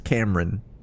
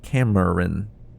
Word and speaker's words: Cameron: most of the time people don't pronounce your name fully. You know, they call you Cameron. Two two syllables. Cameron. My name is not two syllables. It's Camarin.